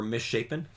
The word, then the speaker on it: misshapen: to go to the Miss happen Pond or misshapen oh my gosh Mish happen yeah yeah that's exactly how you pronounce that mishen Miss shapen uh